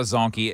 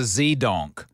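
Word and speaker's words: zedonk: It's not a zonkey. It's a zdonk.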